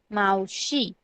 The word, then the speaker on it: मावशी: कैसे प्रोनाउंस करेंगे? MAVSHI, मावशी.